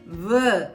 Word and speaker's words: veux: je veux, இதில் பார்த்தீங்கன்னா வேன்றதுல எக்ஸ் வந்து லாஸ்ட்ல வருது, அதை நம்ம ப்ரொனவுன்ஸ் பண்ண கூடாது, அது ரொம்ப முக்கியம்.